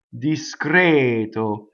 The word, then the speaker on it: discreto: Discreto.